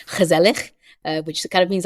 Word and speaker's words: gezellig: And I think there's a really nice Dutch word, which I might butcher the pronunciation of, but it's gezellig.